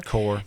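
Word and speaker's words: coir: It's called, it's spelled C O I R. Core. Core.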